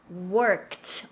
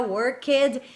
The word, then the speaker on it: worked: Worked. Olha a pronúncia, não vamos pronunciar worked. Esse E não tem som, tá bom?